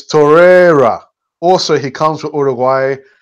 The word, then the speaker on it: Torreira: Anyhow, so, and then we had a comment here from 79 Sawa, and he says, it's not Torreira, it's Torreira.